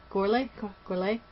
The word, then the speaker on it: Gorley: Gorley?